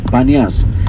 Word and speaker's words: Paneas: The second river is the Paneas, but the Arab people had a problem pronouncing the P's and the B's, so Paneas, or the Temple of Pan, that's the name of that region, becomes Banias.